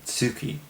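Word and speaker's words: 月: And light, the pronunciation of this kanji is normally Tsuki, and it means moon.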